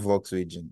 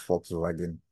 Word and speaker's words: Volkswagen: Toyota Honda and Volkswagen is not volx region is actually pronounced Fox wagen so yeah so we